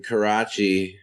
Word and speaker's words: Karachi: Yeah, from Karachi, Pakistan. That's how you pronounce it correctly.